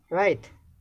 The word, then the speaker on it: write: Write, W is silent.